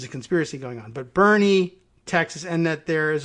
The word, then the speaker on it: Boerne: And I don't know, I guess I probably winged it and said Bern, Texas, but it's Berne, like Bernie. Both of you said like Bernie Sanders.